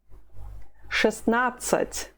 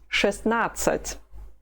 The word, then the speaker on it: шестнадцать: Шестнадцать. Шестнадцать. It loses the soft sign of шесть, and you do not pronounce the letter there in the middle of the word. Шестнадцать.